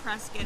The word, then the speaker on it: Prescott: by 10 so i just got back from prescott which I know up there they couldn't they pronounce it press can I was reminded of that but i always